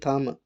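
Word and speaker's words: thumb: इसके बाद मेरे पास है ये थम, तो टी एच यू एम थम और बी साइलेंट होगा, थम, शॉर्ट वावल यू इस्तेमाल करेंगे, ठीक है।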